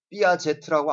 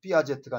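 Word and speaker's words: Piaget: 삐아제트라고 안 했죠? 가제트라고 읽냐? 가제라고 읽지. 삐아제트가 아니라 삐아제.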